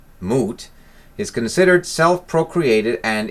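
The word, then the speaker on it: Mut: one of her aspects the goddess mote pronounced moot is considered self procreated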